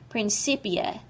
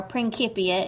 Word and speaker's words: Principia: in his famous work Principia, or Principia if you prefer the Latin pronunciation, published in 1687.